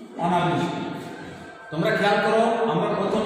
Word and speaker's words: অনাবৃষ্টি: যেমন শব্দটা দেখি, অনাবৃষ্টি, এটা এর উচ্চারণ এখন হবে অনা বয়রি বৃষ তৈরস্বী টি, অনাবৃষ্টি।